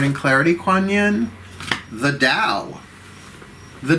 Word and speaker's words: Tao: clarity kuan yin the dao the dao now it is spelled t-a-o not d-o-w d-o-w is a chemical